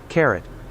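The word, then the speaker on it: caret: text pronounce carrot okay red okay so British pronunciation says it's can you guys hear that I don't know if you can carrot carrot okay it's literally like carrot but it's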